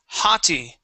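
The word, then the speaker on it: haughty: all right now this word here is hottie okay the gh is going to be silent there hottie hottie yeah and it's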